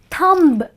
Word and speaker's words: thumb: m b is not thumb it is thumb okay so that's how